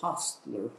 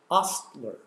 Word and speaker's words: hostler: pronunciation and spelling but in england it's pronounced ostler comes from french and i'm told that